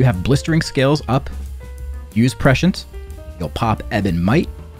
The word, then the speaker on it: prescience: with the offensive cooldowns of your allies use prescience on cooldown to keep two allies buffed this can be manually targeted or you can let the AI apply it to nearby DPS and yes it's pronounced prescience not pre-science prescience you want to keep blistering